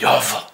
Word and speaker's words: Yahweh: The name in the original Bible of God is Jehovah, or Yahweh, as traditionally believed, or thought, or spelled in two different spellings with two different pronunciations. It stems from the original name of God being YVW.